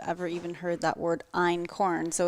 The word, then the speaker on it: einkorn: may not have ever even heard that word ein corn so it's spelled spelt e-i-n-k-o-r-n and it's the ancient grain